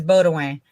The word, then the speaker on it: Baudouin: And Beth, I've been wanting to say Beth's last name is Baudouin. Just saying. That's how you say it over here in Louisiana.